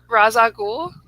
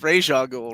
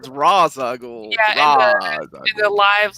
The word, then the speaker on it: Ra's al Ghul: starts off and more importantly how do you pronounce the villains name Maddy Ra's al Ghul that is probably that is the proper pronunciation